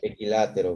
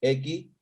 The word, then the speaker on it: equilátero: ¿Equilátero lleva tilde? Equilátero. Sí, ¿no? En la A, ¿no? ¿Qué Sí, pasa? claro, equilátero. Estrújula también, estrújula. Equilátero.